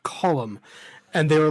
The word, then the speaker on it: Colm: He was like, "It's not Colm, it's Colum. That's how you pronounce that name. It's an Irish name. It's pronounced Colum."